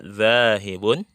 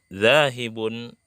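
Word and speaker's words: ذاهب: Jawabannya yang pertama, ana zahibun ilal hadiqati. Atau boleh juga membacanya setiap huruf akhirnya dimatikan ya. Setiap harokat huruf akhirnya disukunkan atau dimatikan. Contoh, ila aina anta zahib. Nah, begitu, zahib, zahibun jadi zahib.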